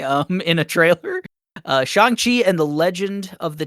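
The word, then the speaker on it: Shang-Chi: September 3rd shangqi I just learned how to pronounce that recently um in a trailer uh shangi and the legend of the 10 rings I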